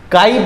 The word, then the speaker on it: chi: CHI पढ़ते हैं इसको, CHI, ची ना, काई पढ़ते हैं इसको, है ना, काई।